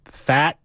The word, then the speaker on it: Pfaadt: Their second half Brandon Fat? Yes. Let me pull up the pronunciation.